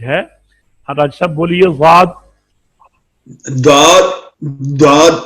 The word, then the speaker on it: ض: جی dad pronounced as a dad. Start using edge of tongue touching gums of upper molars.